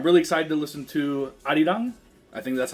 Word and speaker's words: Arirang: It's so funny because I think if you ask Siri to play the album, she's like playing Arirang by BTS, and I'm like, that's not how you say that. So I was like, I think it's Arirang is how you say it.